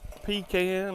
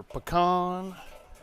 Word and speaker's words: pecan: And we're gonna get a little bit of smoke on this because I got a little piece of pecan or pecan, whichever way you'd like to pronounce it.